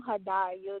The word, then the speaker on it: Hadiya: Okay, well, I'm Hadiya. That's how you pronounce it.